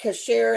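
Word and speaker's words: Chachere: There is Tony Cachere, and I can never remember how to pronounce the name, but it's Chere.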